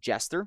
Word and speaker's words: JSTR: I think the second one's pronounced Jester, spelled JSTR.